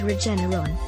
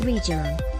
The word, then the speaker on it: Regeneron: whose treatment trump took is regeneron not regional trump bungled the name